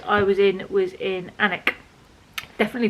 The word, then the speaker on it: Alnwick: the last place i was in was in anik definitely pronounced hammock um i had a great day